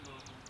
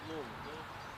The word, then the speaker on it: Louisville: People from Louisville say look. People from not Louisville say you. If you're from Louisville, Say that again? Louisville, Yeah, Louisville. That's how you say it. If you're from Louisville, you say it Louisville. the people that ain't say Louisville. That's right.